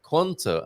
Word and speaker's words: quanto: Remember, quanto must sound quanto, and corum sounds corum, while quient sounds quent, and quinta sounds quinta. The U gets muted in these situations.